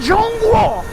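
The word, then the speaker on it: 中国: We're crossing the bridge in Zhongguo, which is how you say China in Chinese.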